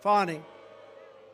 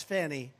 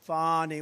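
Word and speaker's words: Fani: Willis right has anybody fonnie it's pronounced Fon F A ni I that's Fanny but she likes it fonnie when she became the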